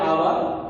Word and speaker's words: hour: There are also some words you will see an hour. Here H is silent letter. That means we will not pronounce the word, we will not pronounce the sound H here.